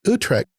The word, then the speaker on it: Utrecht: recently appointed as professor of public theology at Utrecht. Pronounce it for me.